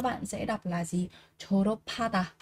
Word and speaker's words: 졸업하다: âm h này thì âm p này nó sẽ được chuyển sang thành là âm bật hơi các bạn nhé. Vì vậy đây các bạn sẽ đọc là gì? 졸업하다, 졸업하다, tốt nghiệp.